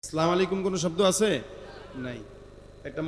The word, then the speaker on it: আসসালামু আলাইকুম: আছে ঠিক আছে কেমনে আসসালামু আলাইকুম কি আবার উচ্চারণ করেন আমার সাথে আসসালামু আসসালামু শুরুর হামজা আর শেষের মিম আসসালামু আলাইকুম আসসালামু আলাইকুম